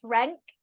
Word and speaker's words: Renke: you and just uh my last name is pronounced rank so without an e so it okay it's spelled with an A but it's silent E sorry it could be